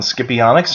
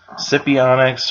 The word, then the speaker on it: Scipionyx: And Scipionyx in Greek is Scipio's claw, but even though it could be pronounced Scipionyx or Scipionyx, I like to say Scipionyx because it sounds more fun that way.